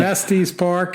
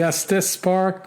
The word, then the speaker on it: Estes Park: for your own knowledge estes park is pronounced estes park yeah can we trust this guy as being some type of authority i don't know and then he says salida is actually pronounced salida not to be confused with saliva i added that part he didn't put that so i've been saying estes park it's actually us this spark sorry to all of